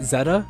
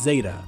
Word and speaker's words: Zeta: is entoma vasilisa zeta is it zeta is that how you pronounce that one not zetta it's zeta i think i think people say zeta because it's it's like alpha beta gamma zeta i think it's zeta so if you don't